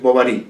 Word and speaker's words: Bovary: leer escuchar perfectamente solo corregir la pronunciación que es bovary porque este es un personaje de la literatura francesa no emma bovary madame